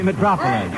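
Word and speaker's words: Mitropoulos: to identify them first a conductor whose last name sounds like an urban center Metropolis that's right Demitri Metropolis okay although his name is not spelled like Metropolis okay the Five Points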